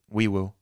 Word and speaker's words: Nwiwu: I believe Febechi Nwiwu, Wiwu was one of them. The N is silent, and I don't want to pronounce it with a silent N. I honestly want to say Nwewu.